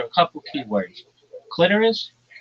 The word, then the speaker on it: clitoris: Clitoris, not clitoris. It doesn't rhyme with the sorus. It rhymes with almost like icorus.